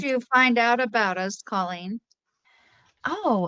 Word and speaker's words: Colleen: Colleen would be Call. great. Okay, thank you. Yeah. Colleen.